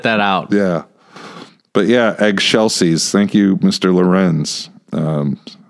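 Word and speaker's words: excelsis: Gloria and you go you got to say it like this in egg Shel Deo eggshell seas and so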